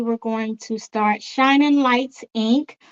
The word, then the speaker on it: Lytes: going to start shining lights Inc lights is spelled lytes um back in the